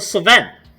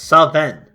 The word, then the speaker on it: Sven: Will it be the Sven? That's how it's pronounced. Seven.